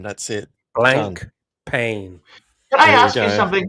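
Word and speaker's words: Blancpain: go whatever whatever Patel says that's how to pronounce it blank pain that's it blank pain can I ask you something with blank pain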